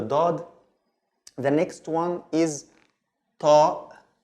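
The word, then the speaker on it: ط: The next one is ta. Ta, like the T, but the T from also when we open the throat a little bit. So it's ta, ta. Yeah, it's stronger than the T, of course, and it's almost the same form.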